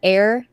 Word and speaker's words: Aer: So we got Air, Memories of Old, and it's spelled AER.